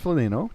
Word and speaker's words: Phenelo: I didn't want to just copy a name, so I added an H to it to make it Felino. Pronounced Felino, to make it more original and unique and my own.